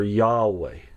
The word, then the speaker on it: Yahweh: This is the word in Hebrew that you would know as Jehovah, or Yahweh is another way that it's pronounced.